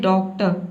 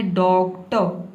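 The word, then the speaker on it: doctor: आप गलत प्रोनाउंस ना करें, आप ये ना बोले डॉक्ट, डॉक्ट नहीं बोला है, आपको बोलना है डॉक्टर, इस तरह से।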